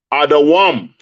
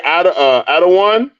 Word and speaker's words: Adawam: Some of y'all gonna be like, oh no, it shouldn't sound like that. I thought the same thing too. Adawam. Adawam. You say Adawan. In Hebrew, the word for Edom or Esau's king Esau is Adawam.